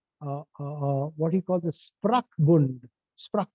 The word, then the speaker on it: Sprachbund: Sprach, I think that's how it's pronounced in German.